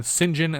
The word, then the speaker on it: St John: and uh st john what is it saint john or is it sinjin saint john okay unless shinjin is spelled saint john it is then sinjin and stringfellow which is